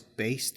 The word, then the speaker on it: based: of these words um there is Ed which is not pronounced like a normal Ed but rather a t sound I do not say